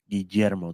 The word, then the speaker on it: Guillermo: Is it pronounced with a J? No, it's not. Guillermo del Toro. Are you sure about that? Yes, it's a double L. Doesn't that translate to Guillermo? Really, dude? Yeah. Guillermo del Toro. Get it? Because when I was in Spanish class in high school, yeah, I was taught that the double L's are pronounced like a Y, like me llamo.